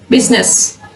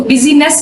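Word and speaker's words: business: जैसे बिजनेस, इसको बिजीनेस नहीं हम बोलते, बिजनेस, इसमें आई साइलेंट है।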